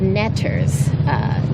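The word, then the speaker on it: neter: They were called netters, which we get from the word, or the consonants, the glyphs for the consonants, NTR, which when pronounced, you get netter, but you also get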